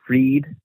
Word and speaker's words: Fried: And Max Fried's full name in the Latin cipher, it's called now, Max Dorian Fried, it equals 619.